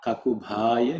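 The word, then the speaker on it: ककुभाय: In terms of pronunciation, kakubhaya. Bha is the fourth letter in the pa varga, so it has to be aspirated.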